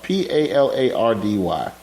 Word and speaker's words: Palardy: and they wave Michael Palardy attend if i pronounce the name PA la pa la rdy Palardy yeah yeah now cypher spending his first